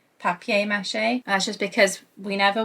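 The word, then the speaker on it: papier-mâché: Also, I do want to acknowledge that I pronounce paper mache like the English word of paper rather than saying papier mache.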